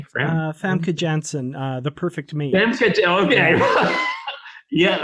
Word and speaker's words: Famke Janssen: that the way you say her name frana famke janssen the perfect me okay yeah there you go